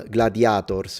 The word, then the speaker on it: gladiator: As a whole, gladiators, with a long A in phonemic vowel length. Gladiator, not with the S, sorry, drop the S. Gladiator is how they say it in Latin.